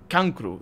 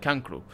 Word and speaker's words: cancro: Don't actually say cancer like Spanish do. We say cancro. That's just how it's said. Cancer is said cancro, and I'm pretty sure